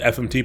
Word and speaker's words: fmt: But in Go, so Go uses the thumped package. That is how it is commonly pronounced in the Go community. I call it the FMT package usually. I think I was calling it the format package, and someone told me that may be incorrect.